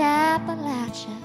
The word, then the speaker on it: Appalachia: But I love that cool breeze through the poplar trees, looking for the ginseng leaves and the Appalachia that rhymes with how about you.